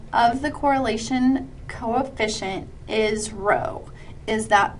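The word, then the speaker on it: ρ: by that P now the p is pronounced row like r o w essentially but that is um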